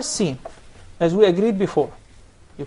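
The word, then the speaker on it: س: So in the case of the Tha, stick out the tip of your tongue. But in the case of the Sin, you keep it inside.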